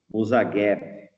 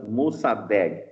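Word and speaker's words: Mosaddegh: Em 1953, eh, existia um cara o chamado Musageb, tá? Se Musadeg, perdão, essa assim a pronúncia correta, tá?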